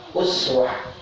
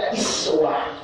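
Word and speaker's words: أسوة: Uswah dibaca dua, ini boleh dibaca dua menurut ulama qiraat. Boleh uswah dibaca dhammah uswah menurut qiraat Hafs. Kalau Hafs itu bacanya uswah. An-Asim, biasanya kita suka dengar qari itu Hafs, An-Asim, itu dibacanya uswah dhammah. Boleh juga dibaca iswah kasrah di bawah. Itu dari qiraat Nafi'.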